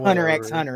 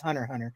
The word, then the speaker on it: Hunter x Hunter: could just be 1,00 resist because you never pronounce the X in uh anime titles it's not Hunter x Hunter it's Hunter Hunter um but uh no I I will I